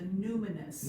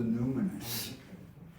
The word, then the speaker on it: numinous: Like luminous, like luminous. Yeah, Okay, as a result, we possess a yearning within our deeper self.